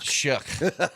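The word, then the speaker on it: Shough: That's that dude whose last name is not anywhere near how you pronounce it. Yeah, whatever. It's like shook. Shook.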